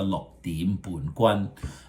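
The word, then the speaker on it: 六點半棍: So lok is number 6. Lok. Dim. Remember that is a raising tone. It will be dim.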